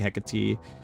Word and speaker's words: Hecate: I wasn't I was never unsure or I was never sure how to pronounce That was like Heat, Hecate, a whole bunch of like whatever other names, but Hec Hecate.